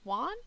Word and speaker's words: Juan: there's the younger brother Juan Juan Juan you pronounce it one um and then Darlene